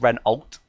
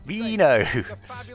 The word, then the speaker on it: Renault: an english word it's ren oh and someone else says ren alt re no indeed it's not only words it's french so renault renault renault reno renault okay okay it's reno renault is that right